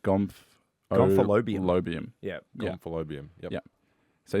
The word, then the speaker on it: Gomphalobium: So pronounced like Gomphalobium.